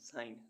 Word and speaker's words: sign: SIGN साइन, साइन means हस्ताक्षर। STRENGTH strength, strength means शक्ति। ऐसे वर्ड्स जिनमें अल्फ़ाबेट एच साइलेंट रहता है।